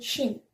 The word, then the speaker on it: Qin: The waring straight all the way to the east was called Chin, pronounced Chin.